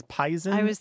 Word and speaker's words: poison: me is there is the pronunciation of poison as as pisen and I was just